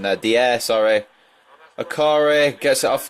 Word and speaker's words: Dier: Down to Chadley. Oh my god, my pronunciation there. Dier, sorry.